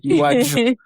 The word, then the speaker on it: Iwaju: I just pronounced Iwaju in English accent, What? but Iwaju.